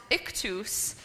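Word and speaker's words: Ichthys: how this word is said this word is pronounced ikus and I'm going to read a bit about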